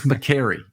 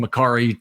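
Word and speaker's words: Mekari: is Patrick McCary and he's told people it's McCary it's McCary and then you know people don't call him mcari till the cows come home including you know a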